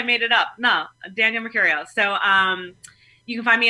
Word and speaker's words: Mercurio: So it's Danielle, Danielle, and then Mercurio, like Mercury, Mercurio.